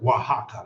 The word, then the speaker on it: Oaxaca: Oaxaca, yeah, that's how they say it.